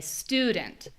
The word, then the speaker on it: student: somehow when I say student. Ooh. Ooh. U student. Student. And the final way, and this is the one that really is important, is that the vowel is especially long.